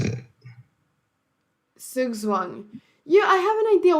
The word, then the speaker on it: Zugzwang: Zugzwang.